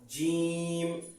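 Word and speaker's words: جيم: এরপর জিম জিম জিম জিম। এটার একটা উচ্চারণের একটা সহজ পদ্ধতি বলি। যেমন আমরা ডিম উচ্চারণ করি, ডিম ডিম বলতে গেলে দেখবেন জিহ্বাটা একটু ভাজা হয়ে যায় বা ডিপ হয়।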